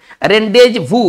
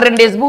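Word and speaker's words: rendezvous: रेंडेज भू, भू देखिए ये भूअस नहीं होता है, इसको उच्चारण भूअस नहीं करेंगे, ये एक फ्रेंच वर्ड है, ठीक है ना।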